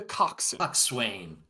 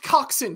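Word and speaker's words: coxswain: then there is the cocksuck Swain it is pronounced coxin you are correct that it is spelled Swain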